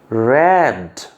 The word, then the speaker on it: read: Present উচ্চারণ রিড, past উচ্চারণ রেড, past participle রেড।